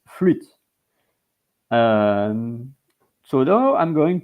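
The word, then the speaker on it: flûte: the circumflex accent in French and it's PR pronounced fluit um so now I'm going to go to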